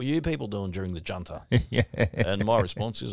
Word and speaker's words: Junta: And it's spelled with a J. It's actually Junta. Junta. I hear a lot of Australians say, oh, you know, what were you people doing during the Junta?